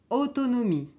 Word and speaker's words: autonomie: autonomia en français c'est autonomie autonomie ok on prononce pas le E j'ai mis les lettres